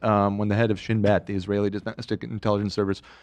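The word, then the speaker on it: Shin Bet: wrong but uh okay this is pronounced shinb so it's basically like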